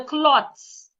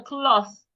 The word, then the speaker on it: cloth: thinking you might say where is the clots? It is not cloth. The th should not be pronounced like a t. Put your tongue outside and say where is the cloth?